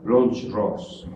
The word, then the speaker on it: Blancherose: Se pronuncia Blancherose. Bueno, así lo pronuncian ellos, ¿sí? O bueno, intento pronunciarlo como ellos lo pronuncian, ¿no? Blancherose. No se les olvide, es francés.